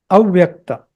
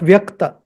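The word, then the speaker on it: अव्यक्त: So the two parts are śaśvat and avyakta. Avyakta, not vyakta. Avyakta. You see in English, it starts with A. I started it with A, not with V. So it is avyakta.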